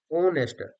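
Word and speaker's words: honest: अब कई बार H silent होता है। एच वैसे तो आपका कॉन्सोनेंट है लेकिन साइलेंट है। आवर, ए uh were, our में है तो एन लगेगा। ओनेस्ट ऐसे स्टार्ट हो रहा है।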